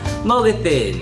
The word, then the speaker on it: Mogethin: Mogatin, fitngag Mr. Wait, what was that? Oh, that means hello, my name is Mr. in Yaquis. How do you say it? Let me try. Mogatin, Mogathin, fitnag, Fifnyag, a.